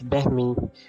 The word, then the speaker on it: balmy: It is pronounced as behmi, and on Urdu it has its meaning like taskin dene wala.